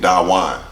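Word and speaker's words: Dawan: and stuff they did it absolutely so you pronounce my name Dawa bro d AWA n mister pac-man on Instagram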